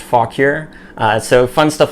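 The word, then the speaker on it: Fauquier: fog here virginia and on the back it's pronounced fog cure so fun stuff like that we're gonna have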